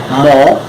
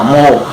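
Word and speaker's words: もう: Hay una particularidad con esta palabrita, mo, se escribe M-O-U, pero se lee mo, es decir, con doble O. En este caso, pues la U lo que hace es alargar un poquito más la vocal O.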